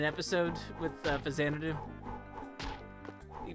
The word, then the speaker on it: Faxanadu: Do you know the Captain N episode with Fazanadu? He pronounces it as Faxanadu.